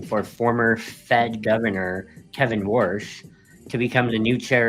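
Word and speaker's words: Warsh: Worsh is considered to support the And guys, this isn't like the way that your grandfather who was born in the 1930s pronounces the word wash. This is just the guy's last name, Worsh.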